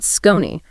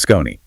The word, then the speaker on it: Skoni: Yes, we have to talk about Skoni. That's spelled S-K-O-N-I.